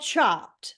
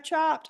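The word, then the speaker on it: Chopt: one before okay so it's called chopped but it's spelled c h o p t and it's a it's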